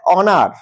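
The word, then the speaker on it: honour: এ বসবে পরেরটা দেখ অনার অনার কি উচ্চারণ হচ্ছে অনার মানে কি অ উচ্চারণ হচ্ছে তার মানে এটা হয়ে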